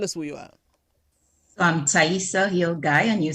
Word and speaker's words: Taihisa Hill Guye: let me ensure that i have the proper pronunciation and we'll move on so tell us who you are i'm taissa hill guy and you said it perfectly ivona mm-hmm all